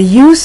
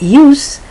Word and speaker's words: use: the pronunciation is not used but the S becomes more of a z pronunciation and it's use you